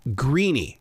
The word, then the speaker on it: Greaney: know I I think if you're in Ireland it's an Irish name you're gonna pronounce it greeny and I'm from Memphis